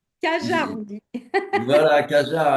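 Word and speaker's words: Cajarc: Et puis euh et puis ce ce cette magnifique rencontre à Carjac à Cajar ou à Cajar comment on dit ? Cajar on dit.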